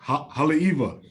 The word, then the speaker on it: Haleiwa: Haleiwa.